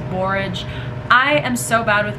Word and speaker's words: borage: if i'm saying it's probably not barrage it's borage i am so bad